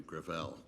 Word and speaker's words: Gravel: let me correct uh i pronounce it within my family gravel it's a french name thank you uh i